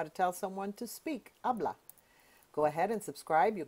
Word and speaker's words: habla: The way you ask someone to speak, habla. The H is silent. Repeat after me. Habla. Speak. Habla.